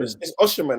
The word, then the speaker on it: Osimhen: It's Osimhen. It's Osimhen. Osimhen. Okay, cool. Yeah. I've heard like 6 different pronunciations on the 6 different people's videos.